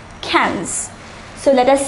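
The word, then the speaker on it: quinze: 15 is pronounced as cans the pronunciation is different from the spelling it is pronounced similar to the english word cans cans so let us say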